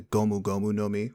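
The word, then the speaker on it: ゴムゴムの実: the japanese anime fans they'll know as the gomu gomu nomi which is how you pronounce gum gum fruit in japanese it is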